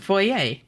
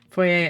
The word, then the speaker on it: foyer: I mean, I think it's a regional thing. I've heard foyer, but I think it really depends on, like, where you're from, you know? Because, like, even if it's, like, originally from French, like, it's an English word now, you know? So, like, it's gonna be subject to, like, English pronunciation rules just as much as French.